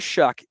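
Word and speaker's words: Shough: way through as a backup Q uh Tyler shuck is that is how it's pronounced by the way with even though it's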